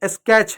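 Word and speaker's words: sketch: तो जहां पर शब्द के अंत में टी सी एच आता है वहां पर टी साइलेंट होता है, और सी एच को सिर्फ च पढ़ते हैं। इसलिए आपका जो स्केच है, क्या है, जो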